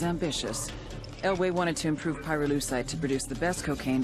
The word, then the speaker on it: pyrolusite: him you know what pyrolusite is right yeah neither did I pyrolusite key syllable pyro by the way is